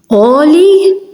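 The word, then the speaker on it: għoli: So when ein is at the start of a word, you don't hear it.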